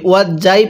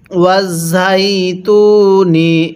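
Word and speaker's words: وَٱلزَّيْتُونِ: অনেকেই আমরা এই ঝাটাকে জিম উচ্চারণ করি, ওয়াজ যাই পড়ি। এরকমভাবে পড়লে পড়াটা সহিশুদ্ধ হবে না।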